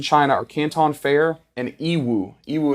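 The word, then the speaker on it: Yiwu: biggest markets in China are Canton fair and ew euu it's spelled y i Wu and you can literally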